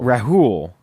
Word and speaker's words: Rahul: is it Raul Rahul Rahul they actually pronounce the H in it I think I think Americanized it would have been Raul so Rahul who has